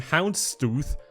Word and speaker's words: Houndstooth: We have the factory new Mechanism for 60 cents, the factory new Houndstooth, that's how you pronounce it correctly, for 70 cents, the